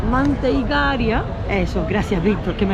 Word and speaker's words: Manteigaria: Aquí justo en el mercado de Time Out tenéis un sitio que se llama Mantecaira. No, perdón. Manteiga... Madre mía, no quiero pronunciar. Manteigaria.